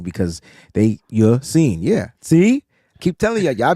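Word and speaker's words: Ya-Sin: Let me make sure I'm saying that right because Yassin. Yeah. See? Keep telling y'all be saying sin. Nah, it's Rock not Yassin. sin. S-E-E-N. It's not how it's spelled. That's how it's pronounced.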